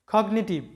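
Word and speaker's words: cognitive: তো এই কগনিটিভ শব্দে যেহেতু জি এবং এন আলাদা আলাদা আছে, যদিও এন এর আগে জি আছে কিন্তু আলাদা আলাদা সিলেবলের মধ্যে আছে, তাই জি এর উচ্চারণটা হবে কগনিটিভ।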